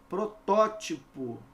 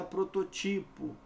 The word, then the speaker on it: protótipo: Protótipo, não é prototipo, tá bom?